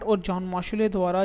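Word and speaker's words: Mauchly: तो बनाया गया था, लिखोगे आप, बाय जॉन मॉशुले। ठीक है, क्या नाम है उसका? John मॉशुले, spelling JOHN, John MAUCHLEY, John मॉशुले द्वारा बनाया गया।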